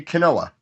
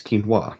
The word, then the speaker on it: quinoa: at that word and I see Canoa but now thanks to actually the continue cast with the boys from continue um I Heard the correct pronunciation and it's quinoa and I feel like